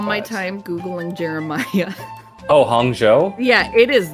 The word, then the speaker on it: Hangzhou: I feel like that's wrong is there a hang Chow China I didn't even look at this I've never heard of it I spent all my time Googling Jeremiah oh Hangzhou yeah it is not spelled like that in